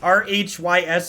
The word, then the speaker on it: Rhys: in chat said uh it's is it rhys r-h-y-s is pronounced rhys apparently in real life really yeah